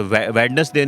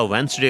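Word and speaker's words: Wednesday: होता है, ठीक है, वेडनेसडे नहीं होता वेंसडे होता है।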